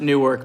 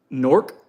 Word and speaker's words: Newark: I pronounced it Newark because I just wanted to make sure people know what I'm saying. It's Norc.